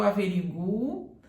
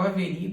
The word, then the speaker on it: averiguo: Então, você ainda pode falar eu averiguo e está certo, ou eu averigo e está certo.